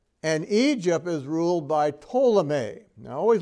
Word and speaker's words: Ptolemy: And Egypt is ruled by Ptolemy. Now, I always like to remind people that Ptolemy is spelled with a P, but the P is silent.